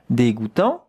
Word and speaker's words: dégoûtant: D with an accent, it's not de, it would be de without the accent. Dégoût, here we have the sound goût, J-O-U, goût, tant, T-A-N-T. But the T at the end, you don't hear it.